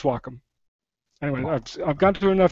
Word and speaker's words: Wacom: well yeah it's it's Wacom it's a it's a Japanese word it's not wcom for sure uh some people pronounce it Wacom or or or anyway I I believe it's Wacom anyway I've gone to